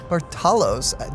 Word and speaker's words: Barthalos: Barthalos. The H is silent.